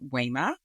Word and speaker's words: Wema: Yes, my name is Wema, which is Swahili, and it's spelled W-E-M-A, and the E is pronounced like a long A, that language.